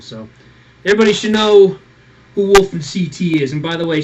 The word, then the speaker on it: WolfenCT: But it's Wolf, or Wolfen's fine, or Wolfen, Connecticut. That's where I'm from.